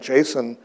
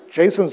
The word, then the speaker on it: JSON: name for one thing nobody knows how it's pronounced I've been saying Jason and I I I hear from guys all